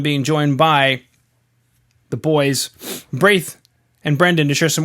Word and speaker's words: Braithe: I do get some interesting pronunciations of my name. But yeah, Braithe is new. It's actually Braithe.